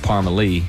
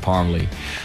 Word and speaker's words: Parmalee: town is from spell it's spelled p-a-r-m-e-l-e but pronounced parmalee which i have no idea how that worked